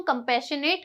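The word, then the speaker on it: compassionate: हम इस वर्ड को डिवाइड करेंगे। कैसे? सबसे पहले आप बोल सकते हैं सी ओ एम कम। उसके बाद पी A double S आई ओ एन शन कम पैशन।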